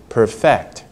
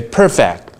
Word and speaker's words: perfect: may put probably pronounced perfect what's the different stress okay if you say perfect that's a first syllable stress right that will change